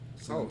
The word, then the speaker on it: Salento: Salento. That was simple. Solento. Yes. Like bentos, but with a salad at the beginning.